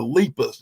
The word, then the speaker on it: Lepus: not pronouncing it right because you keep saying lupus like it's some kind of ho and mouth cough disease it's not of the lepus it's the technical term for rabbit a leus come on